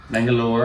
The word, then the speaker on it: Bengaluru: It's in Bengaluru, which may be pronounced differently depending on how you want to pronounce it. I've seen it with an E, so it's probably Bengaluru. Bangalore. I've heard Bangalore.